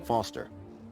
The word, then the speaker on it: Foster: so it does i'm foster i'll remember that easy because your name rhymes with fossil and you're old thanks kid what's wrong